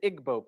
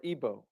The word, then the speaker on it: Igbo: Another area in Africa, you have uh something big happening is in Nigeria, you have the Igbo people or Ebo, pronounced either way.